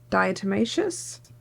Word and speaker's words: diatomaceous: Diatomaceous? Pronounce.